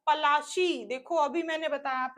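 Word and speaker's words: Palashi: Plassey gut it's name Plassey is एन एगली size pronounce ation pronounce of पलाशी देखो अभी मैंने बताया आप लोगों को क्या प्रोनंसिएशन किया था इन्होंने पलाशी एंड द प्लेस राइड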